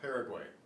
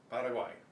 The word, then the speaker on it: Paraguay: Same way with Paraguay, not Paraguay, Paraguay.